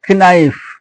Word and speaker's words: knife: Knife, K is silent, and I don't know, K is silent.